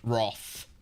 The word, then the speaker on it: wrath: Y which Old English Roth yes see I knew I knew Roth was an Old English way of pronouncing it but I just again thought that that was the same word that one is that